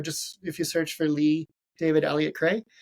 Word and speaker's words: Ley: So just if you search for Lee David Elliott Cray, just make sure you spell Lee wrong. You have to spell it Ley.